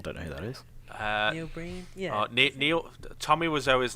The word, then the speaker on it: Neil Breen: But it's him and Neil Breen, is it? I think that's how you pronounce it. I don't know who that is. Neil Breen, yeah.